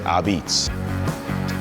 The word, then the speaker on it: Apizza: People sometimes ask me, how do you pronounce this New Haven style pizza spelled with an A in the beginning? It's an old word, and we say Ubbeats.